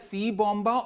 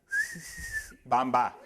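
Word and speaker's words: Siibomba: i b o MBA I asked him do I pronounce your name as C bomba or s B he told me noar you don't pronounce my name as C bomba sa bomba you pronounce my name as bambba he had a whistle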